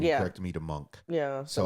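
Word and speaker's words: Munch: And the name of the movie obviously being Scream Mooch or something like that. It's not how you Sandra told me I pronounced it wrong. You corrected me to monk.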